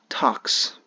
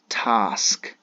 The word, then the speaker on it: task: Sadly, it is pronounced as tax. The ka comes first, the sa goes to the end. So how could you say it accurately? Task.